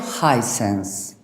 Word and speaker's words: Hisense: Sí, bueno, se pronuncia Hisense, como Hisense, alto sentido.